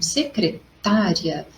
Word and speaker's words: secretária: em outro local então o que você percebeu em relação a pronúncia das palavras destacadas nas duas partes vidas bom as duas palavras destacadas são secretária e secretaria a secretária nós conseguimos receber pela sonoridade e o tá ele soa mais forte mas se tu